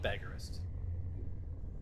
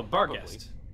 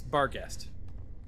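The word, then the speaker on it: barghest: down in really a sad crumpled heap of Bist am I pronouncing that right oh bar guest it's bar guest b a r g h s t right bar guest yeah I have some info on those because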